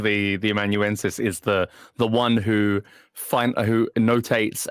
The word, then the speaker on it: amanuensis: Even Phronesis though wasn't terribly difficult to pronounce, but like I'm still not sure that I know how to pronounce what's the amanuensis. Amanuensis.